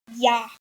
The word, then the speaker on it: 야: Then the next letter is ya, which can make the same sound in the word yarn.